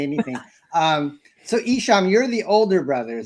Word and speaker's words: Eshom: Oh, it's pronounced Eshom, Don.